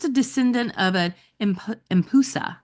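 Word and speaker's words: Empusa: descendant of a imp impusa I think is how you pronounce it e m p UA impusa a shape-shifting vampire oh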